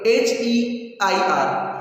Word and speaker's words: heir: The last year, H-E-I-R. Beta, H you can see the word H-E-I-R. Here, H is silent.